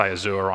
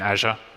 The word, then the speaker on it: Azure: using mozilla and obviously when I say Azur I mean Azure as everyone else in the world pronounces it we're special in Australia and and so yeah